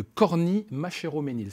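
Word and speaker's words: Corny-Machéroménil: Renaud Averly, vous êtes conseiller départemental, président de la communauté de communes du Pays Rothellois et maire de Corny-Machéro-Ménil. C'est bien comme ça qu'on prononce? C'est bien comme ça, bravo.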